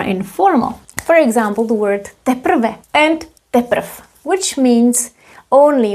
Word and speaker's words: teprv: If you say naposled, D will be pronounced as T, naposled. Naposled, as well as here, teprv.